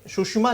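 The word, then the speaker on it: Tsushima: है ठीक है ना यह है सुशिमा टी से स्पेलिंग शुरू है जापान में अधिकांश शब्द में टी साइलेंट होता है स्पेलिंग टी से जरूर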